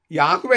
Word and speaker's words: യഹോവ: അതിനാൽ അദോണായ് എന്ന വാക്കിലെ സ്വരാക്ഷരങ്ങൾ എടുത്ത് എ, ഇ, ഒ, എ എന്നുള്ള അക്ഷരങ്ങളും അയ്യൊക്കെ എടുത്ത് 4 അക്ഷര ദൈവനാമത്തിന് നൽകി അതിന് യഹോവ എന്ന് ഉച്ചരിക്കുന്നത് ശരിയല്ല. ഈ കാര്യത്തിൽ വേദശാസ്ത്രയുടെ എല്ലാവരും ഒറ്റ അഭിപ്രായമാണ്. യാഹ്വേ എന്ന ദൈവനാമത്തിലെ വ്യഞ്ജനാക്ഷരങ്ങളും അദോണായ് എന്ന വാക്കിലെ സ്വരാക്ഷരങ്ങളും കൃത്രിമമായി കൂട്ടിയോജിപ്പിച്ചാണ് ഈ യഹോവ എന്ന നാമം ഇവർ സൃഷ്ടിച്ചെടുത്തത്.